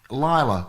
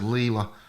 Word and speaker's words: Lila: Because I said Leela, and she's just put a message in there saying it is pronounced Lila. I guess it's Lila.